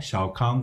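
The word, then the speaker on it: 小康: 그리고 중국 경제 3단계 발전론에서 온포에서 소강, 그리고 대동으로 이어지는 내용들이 어떻게 변화하고 있는가, 중국식으로 발음하게 되면 원바오, 샤오캉, 그리고 따통세계죠.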